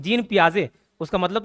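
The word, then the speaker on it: Piaget: नहीं होना चाहिए जीन पियाजे इसका प्रोनाउंस क्या करते जीन पियाजे जैसे भी प्रोनाउंस करें आप क्या करना जीन पियाजे उसमें पियाजे में आ आ रहा नहीं प्याजे तो वैसे इसके कांसेप्ट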